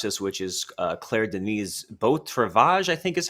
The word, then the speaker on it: Beau Travail: when they watch this, which is Claire Denis' Beau Travail, I think is how you say it. Beau Travail.